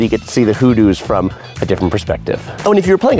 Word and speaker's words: hoodoo: Oh, and if you're playing a drinking game along with this video, drink every time I say hoodoo. It's just such a fun word. because it rhymes with voodoo.